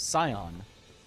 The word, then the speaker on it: Scion: You now pronounce it Skon or Zion. Uh, neither of those. Scion.